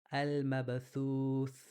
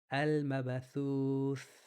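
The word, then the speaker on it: المبثوث: This is pronounced as al-mabathuth. Al-mabathuth. And for many pronouncing, a th is difficult. Thuth. It almost sounds like tooth.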